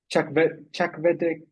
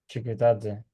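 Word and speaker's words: Chakvetadze: They've got Georgie Chakvedze from Watford. Chikutadze.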